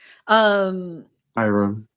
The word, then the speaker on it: Hiram: Brian said, I grew up in Westbury, Hiriam, Clark in Houston, one of the hoods. I don't know Hiriam Clark. But I know Houston. Hiram.